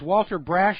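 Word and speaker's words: Walter Brasch: And joining us on the phone right now is Walter Brash. I hope I'm pronouncing that correctly.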